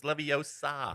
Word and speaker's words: Leviosa: No, it's Leviosa. Yeah. it's like- Inwadium Leviosa. There we go. Perfect. Too funny. Speaking of Edwardium.